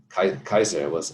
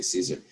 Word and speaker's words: Caesar: In Old Greek, they didn't have a C that was soft. Kikero. It wasn't Cicero, like we say. They had everything was hard. Kaiser, we say Caesar. It's Kaiser.